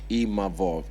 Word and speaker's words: Imavov: I learned how to say his name properly, Imavov, because, we shot a fair one, he beat me, and then, cool, we move on, I move forward to the next one.